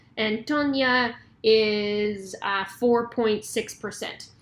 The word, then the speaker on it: Toña: excited about um this Nicaraguan beer called Tonya I'm assuming um but uh when my sweetheart was down in Nicaragua they picked up this beer cuz we joked that it's actually pronounced Tonya so um we're going